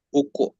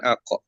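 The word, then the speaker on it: أُقْسِمُ: Uko, bukan ako, tapi uko.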